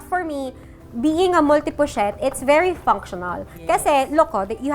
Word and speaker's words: pochette: -Bochette? Pochette? This is Multi Pochette. -Oh, it’s Pochette. Pochette.